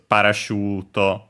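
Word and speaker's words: パラシュート: Uh yeah, the accent is parachute on the shoe.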